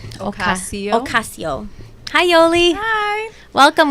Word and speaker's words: Ocasio: Ocasio.